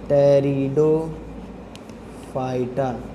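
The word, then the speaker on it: Pteridophyta: पी भी आता है, पी साइलेंट है, टेरिडो फाइटा।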